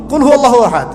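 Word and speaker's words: قل هو الله أحد: কুল হুয়াল্লাহু আহাদ, এটা কি সব একসাথে মিলে একটা শব্দ?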